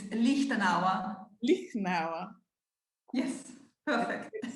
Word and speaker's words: Lichtenauer: So please join me in welcoming Lichtenauer.